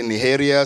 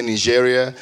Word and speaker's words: Nigeria: Like I realized that different folks from different parts of Latin America pronounce Nigeria differently. And it's true. Like some people from like some people might say Niharia, some people might say Nigeria.